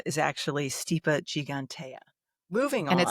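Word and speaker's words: Stipa gigantea: Steipa gigantica is actually steep gigantea. Moving on. And it's actually stip.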